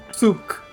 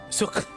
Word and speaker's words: souk: No, actually in French it's suk. Souk.